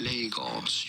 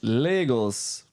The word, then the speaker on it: Lagos: Lagos. You do want to stress on the first syllable. You do want to stress on the first syllable, guys. Lagos. Almost sounds like Legos.